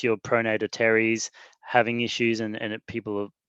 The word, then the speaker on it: teres: have that as well it's not bicep it's pronounced teres but let's not go there but one of